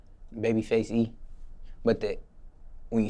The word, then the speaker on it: Babyfxce E: But when you spell it, the F, so it's Fxce E. So it's the face, the A is taken out and it's replaced with X.